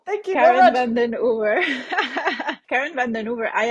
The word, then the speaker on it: Karen van den Oever: van den Oever. Thank I you. will pronounce it for you. Thank you very Karen much. van den Oever.